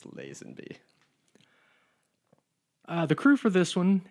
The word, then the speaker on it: Lazenby: And I said George Lazenby, and my English friend It's corrected Lazenby. me. Gavin corrected me that it's Lazenby.